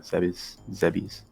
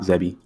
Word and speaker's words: Zebes: Zebes. Not Zebi.